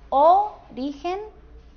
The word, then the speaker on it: origen: Origen, origen o origen. La que suena mejor es la que tiene la sílaba tónica en la penúltima sílaba, en la del medio.